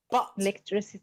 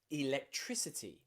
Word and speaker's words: electricity: so now it's changed now you'll see that in electricity we have an i after that c so it changes the pronunciation of the c it's not electricity it's electricity because that i following the c has changed the pronunciation of the letter c electricity we also have